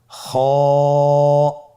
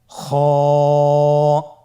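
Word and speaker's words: خاء: খ হরফটির মাখরাজ হলো কন্ঠনালীর শেষ ভাগ হতে উচ্চারণ করতে হয়। কন্ঠনালীর শেষ ভাগ। আপনারা আমার সাথে বলুন খ আবার বলুন খ মাশআল্লাহ।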